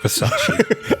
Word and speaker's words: Versacci: I think it's pronounced Versace. Oh, it's not some connection to the label. No. Okay. But it's spelt differently. But you would pronounce it the same way? Yep.